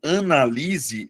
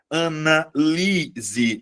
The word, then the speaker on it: analise: O primeiro caso, analise, é verbo, Luana. Mas aí você vai perceber, analise. A sílaba tônica é a anterior. Beleza? Eh, é a penúltima sílaba.